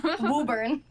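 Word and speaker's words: Woburn: We pronounced it as Wurn, but Okay.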